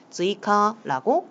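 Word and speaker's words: 追加: 즈이카라고 읽어주시면 되겠습니다.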